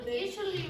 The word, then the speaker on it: initially: Because the TI very often in English is pronounced like a sh.